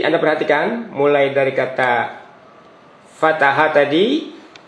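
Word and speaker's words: فتح: Nah, jadi Anda perhatikan mulai dari kata fataha tadi. Fataha, perhatikan tanda bacanya fathah, fathah, fathah.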